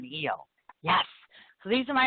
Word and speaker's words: Fernihough: First of all, I had to look up on his Facebook page how to pronounce his last name. That's kind of gay, I know, but it's Fernihough, and I think I got that right because